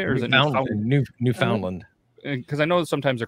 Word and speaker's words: Newfoundland: Or is it Newfoundland?